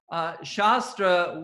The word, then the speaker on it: shastra: is a sacred text shastra without a long a shasta with a short a means the sword so the yoga sutras